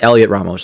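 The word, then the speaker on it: Heliot Ramos: Okay, so the H is silent.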